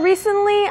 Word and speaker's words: recently: T 발음하는 사람은 거의 없고 Yeah. 네. We say it with a D usually. 네. Recently. recently. Recently. 네, 거의 D 발음도 N처럼 recently, Recently. 이렇게 발음이 되고요.